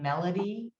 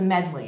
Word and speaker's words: Medley: just a tip um everyone always wants to say my last name like melody but it's not it's like a medley of vegetables that's the easiest way it's the medley it's just two syllables but everybody always wants to say melody and i don't know